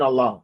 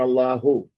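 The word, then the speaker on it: اللهُ: In our class, don't say an Allah. Say an Allahu. Say Mekkata. Say Abdullahi. Say the whole thing. I want to hear that last syllable, that last particle of Dhamma.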